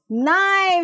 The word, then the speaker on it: knife: Knife, you can see here. Yes, here K is silent, children.